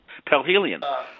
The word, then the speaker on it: perihelion: It's called Perihelion. Perihelion. How do you pronounce that? Perihelion.